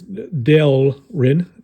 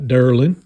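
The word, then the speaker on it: Delrin: anybody's intelligence but FYI be careful with this delin delin delin not Derlin or darling I guess you could say it if you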